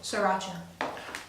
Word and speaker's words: Sriracha: Sriracha. Sriracha. It's pronounced sriracha.